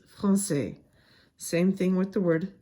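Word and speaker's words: Français: it's called insidi and it changes the pronunciation of the C from a sound to a s sound for example Francais usually a c before an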